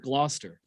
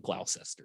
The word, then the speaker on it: Gloucester: At least you didn't pronounce the C this time. Yeah. for uh for four nights and then I'm going to get back. Yeah, I didn't call it Glowcester or Glow Chester or whatever.